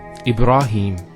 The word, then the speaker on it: Ibrahim: Next word, Ibrahim. So here, ra. Notice here the ra, fatha, followed by the alif. Once again, it's a long vowel. Ibra, not ibra, ibra. Ibra, and then him, Ibrahim.